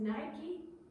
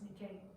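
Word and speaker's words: Νίκη: Now, we pronounce it Nike, but they really pronounce Nikkei.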